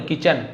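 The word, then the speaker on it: kitchen: एंड use them, और उनको उपयोग किया, इन द किचन, है ना, टी साइलेंट है, किचन नहीं बोले, किचन, रसोई घर में, टू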